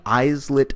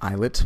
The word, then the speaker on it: islets: pancreas is organized is that there are many eyes lit cells it's actually pronounced islets but I'm mispronouncing it just to let you know how it's spelled eyes lit or islet cells that exist and sit in